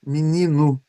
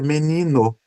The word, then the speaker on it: menino: Eu aqui pronuncio, né? Menino. Olha só, né? Troco o E por I e troco o O por U. Mas em algumas regiões, ainda aqui no estado do Paraná, né? Se pronuncia menino com E e com O.